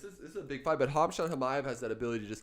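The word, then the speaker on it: Khamzat Chimaev: Hamshat Chimaev. Hamshat Chimaev? That's how you pronounce his name?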